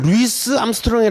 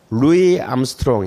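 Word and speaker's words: Louis Armstrong: 이잖아 암 으로 그런데 저걸 루이스 암스트롱 라고 읽으면 안 되요 루이 암스트롱 이에요 그러니까 이것도 뭐예요 우조 이름도 프랑스 방식으로 우리가 입니다 자의 루이 1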